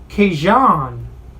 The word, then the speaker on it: Kajan: So then we go to the 155-pound division where we have Rustam Khabilov against Ragin Kajan Johnson. He wants it pronounced like that.